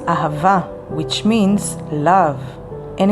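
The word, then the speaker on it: אהבה: language no it's not money neither power it's ava which means love and it's spelled with alef hey the next letter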